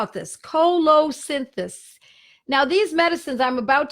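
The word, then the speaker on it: colocynthis: these medicines are pronounced so it's Colo synthesis and the way it's spelled see o l o cy n th is Cola synthesis it is an excellent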